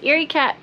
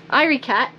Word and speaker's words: Irie Cat: we said many times Eerie cat irie cat sorry cat I'm naked cat we keep getting that wrong but now I'm gonna